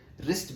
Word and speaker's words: wrist: watch the wrist watch wrist begins with W don't say wrist watch it is wrist watch because W is silent sometime English is funny